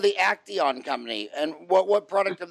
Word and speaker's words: Acteon: And how do you spell it? A-C-T-I-O-N? A-C-E-T-I-O-N? A-C-E-T-I-O-N? Yes. Yep, that's it. Acteon, yeah.